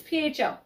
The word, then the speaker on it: pho: our dinner we made i'm gonna say it how i want to say it right now fo but justin says so is it either fo sho oh fuh real yes so it's pho anyway um it's just